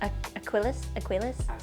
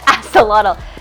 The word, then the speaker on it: axolotl: Oh, it's the one I can't pronounce. It's the Aquilus? Axolotl.